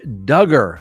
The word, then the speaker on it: Duggar: presumption of innocence Josh Duggar rhymes with hugger we haven't talked about